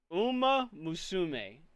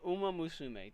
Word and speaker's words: Uma Musume: But, uh, Uma, oh my god, I cannot I cannot pronounce Uma Musume, thank you. Uma, Uma Musume, thank you very much.